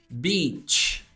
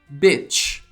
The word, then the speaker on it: beach: é beach tá bom você pronuncia assim ó beach beach só que você ainda não se ligou que a pronúncia importante em vez de Beat você pronuncia isso daqui ó ó bitch Então você fala pra